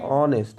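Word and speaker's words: honest: এ কি করে হয় অ বলছি তো তাহলে অনেস্ট এইচ ও এন ই এস টি মানে লিখছি আমরা এইচ দিয়ে কিন্তু উচ্চারণটা করছি অ তাই না তাহলে ভাওয়েলের মত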